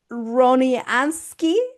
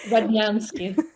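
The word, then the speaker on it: Rodnyansky: with a climb producer Alexander Ron Ronanski. I hope I pronounce it well. Rananski. Ranki. Distributed by Wow Bunch.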